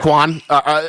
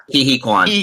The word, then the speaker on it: Quan: Hi Quen. Am I saying it right? Oh man, I don't know. I've never been able to pronounce it. Quan, yeah. Quan.